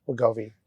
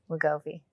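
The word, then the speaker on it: Wegovy: WGO WGOI WGOI.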